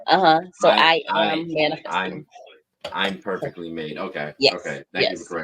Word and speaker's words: ImperfeKtlymade: say this that the the pronunciation for the foundation it's I'm perfectly made I am uhuh so I am man I'm perfectly made okay okay thank you